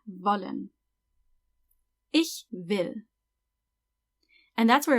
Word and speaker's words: wollen: Remember to pronounce every W like a V, wollen.